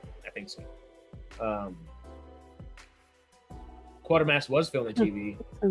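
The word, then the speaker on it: Quatermass: I was like, is that quarter mass or quarter mass? It's just it's quarter mass, right? It's quarter mass. I was like, that's not how you spell quarter. Right. Right. No, it's missing the R.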